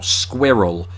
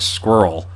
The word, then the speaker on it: squirrel: nothing of this pronunciation i just assumed everybody said it pretty much like I do now squirrel squirrel and then I realize how Americans say it and it's more like squirrel which kind of sounds like you're pronouncing the word squirrel with a bunch of nuts in your mouth which is what squirrels